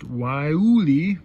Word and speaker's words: Guayule: It's called the pronounced Guayule, and it's spelled Guayule.